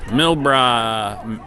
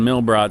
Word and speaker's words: Milro: So her big over to Milro Milro. I've been saying Milrott. So like I say, I mispronounced the name.